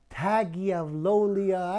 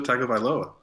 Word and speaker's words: Tagovailoa: Are you not even going to try to pronounce his name? Tagovailoa.